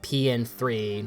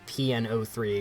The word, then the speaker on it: P.N.03: remain a gamecube exclusive pn3 and yes it's pronounced pn3 not pno3 or pn03 because when you start a new game you